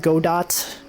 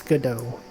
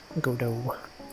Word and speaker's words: Godot: Is Godot pronounced? Yes, it is. I know it looks like Godot. Apparently it's Godot. Godot.